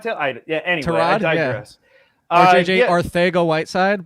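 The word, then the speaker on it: Arcega-Whiteside: RJJ Arthego-Whiteside, by the way. That's true. That is the Spaniard pronunciation.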